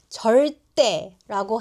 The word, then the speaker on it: 절대: 절대보다는 절대라고 해야 진짜 안 된다는 느낌이 전달돼요.